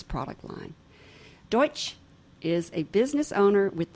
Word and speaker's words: Deutsch: My guest today is Richard Deutsch. How'd I do? So close. So close. So say it close. Right. Say it right for me. Deutsch.